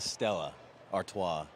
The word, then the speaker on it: Stella Artois: It's a Stella Artois. Okay, and good pronunciation, one Alex.